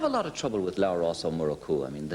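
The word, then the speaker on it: Labhrás Ó Murchú: And he said, by the way, how do you pronounce that name again? And I said, Labhras Ó Murchú.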